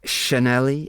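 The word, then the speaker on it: sianeli: with worst letters and instead of doing the CH sound that's in English um they use the SI the sh sound that's used in shop that we mentioned before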